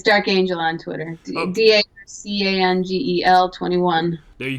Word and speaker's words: D'Arcangelo: we going here okay how are we pronouncing dark is it dark angel on twitter or is it dark okay it's dark angel on twitter d-a-r-c-a-n-g-e-l-21 there